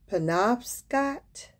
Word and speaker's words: Penobscot: fur trading posts at the mouth of the penobscot i believe is p-e-n-o-b-s-c-o-t and kennebec rivers in